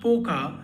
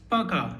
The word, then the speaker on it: Пока: It's not Poka as you see in the spelling. It's Пока because the O is unstressed. So you don't say Poka, but you say Пока.